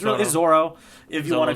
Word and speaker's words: Zoro: it says Zolo or Zoro. If you're watching the anime, they even pronounce it Zoro. It's because the L and the R sound in Japanese, they make the same.